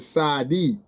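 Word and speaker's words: צ: Sometimes, like in the modern Hebrew, you're gonna find the word Sadi, and it's with a TZ, a TZ. Okay. Okay, but in the middle Hebrew, or the biblical Hebrew, it's gonna be like a S, have the S, TS sound. Okay, and then in a modern classical Hebrew, it has a TZ sound.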